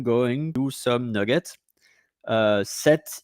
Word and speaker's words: sept: Uh, set is a number like seven and s e pt, but we don't pronounce set. Um, the only way that you pronounce set um, you pronounce set like s set.